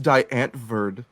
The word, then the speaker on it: Die Antwoord: It's pronounced Diane Verd.